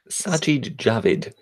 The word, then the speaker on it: Sajid Javid: Apparently, how did you pronounce his name, our current Home Secretary? Sajid Javid.